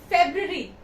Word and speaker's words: February: We say this word as February. We say it February, but no, it's wrong. Here the R is silent.